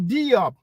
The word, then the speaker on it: Diop: that I'm lying on Diop. That's how you pronounce it in English. We pronounce it Diop in French, by the way. It's the same name.